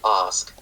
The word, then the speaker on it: ask: all, and that is a raising of the a sound. So, take a word like ask, the verb specific uh word has the exact same sound uh present no matter what accent you're looking at. Perhaps I guess if you look at RP, let's say like ask. Yeah, that's a little different.